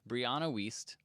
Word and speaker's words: Brianna Wiest: get this one right so it's brianna wiest is how she pronounces it anyway uh the mountain